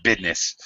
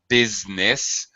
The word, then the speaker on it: business: supposed to be pronounced business, but it's pronounced, by the way, though it may look like 3 syllables, it's pronounced 2 syllables.